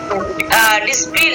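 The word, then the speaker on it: discipline: यहाँ पे देखिए DISC, सबसे पहले क्या है आपका एस आया है, उसके बाद आपका क्या आया है, यहाँ पे सी आया, तो सी क्या करेंगे हम, इसको साइलेंट हो जाता है, और इसको हम प्रोनाउंस नहीं करते हैं, ठीक है, प्रोनाउंसिएशन नहीं करते हैं, तो इसको हम किस तरह पढ़ेंगे, डिसिप्लिन, ठीक है।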